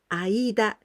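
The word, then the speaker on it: 間: The pronunciation of this kanji is aida.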